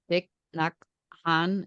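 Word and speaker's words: Thich Nhat Hanh: follow this guy uh I think it's thick Han is how we say his name yes Buddhist monk yeah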